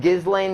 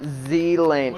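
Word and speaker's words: Ghislaine: like this guy's um the s in gizlane is silent it's pronounced zealand i know but i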